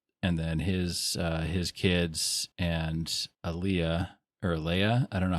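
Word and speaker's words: Alia: And then his kids and Leia, I don't know how you pronounce it. Aaliyah.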